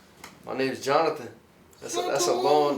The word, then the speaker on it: Johnathan: My name's Johnathan. That's a long name. It's not spelled like other names though. Okay, how's it spelled? Johnathan. It's Johnathan. Exactly. But the way you pronounce it is just regular.